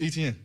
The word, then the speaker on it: Etienne: So I'm like, man, it's Etienne. Like how you say it is how you say it.